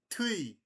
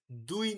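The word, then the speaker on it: 뒤: পিছনের জিনিসটাকে বলে থুই, দুই না কিন্তু, দুই না, থর মতো উচ্চারণ করতে পারেন, ধয়ের মতো উচ্চারণ করতে পারেন, ধুই, বাট বেশিরভাগ অ্যাপ্রোপ্রিয়েট হচ্ছে কি থুই, থ উচ্চারিত হয়, কোরিয়ানরা থ উচ্চারণ করে এটাকে থুই, থুইয়ে, থুইয়ে মানে পিছনে আছে, তা থুই, কিন্তু বানানো হচ্ছে দ।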